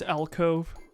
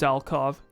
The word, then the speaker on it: alcove: ways no absolutely not this is alkov i don't know why i say it that way phonetically it absolutely does not look like it should be alcove that's not what c-o-v-e would sound like but all of